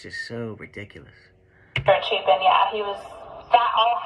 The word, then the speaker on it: Chapin: Chapin, yeah, he was... That all happened and the See, at least she pronounced Chapin right, you know?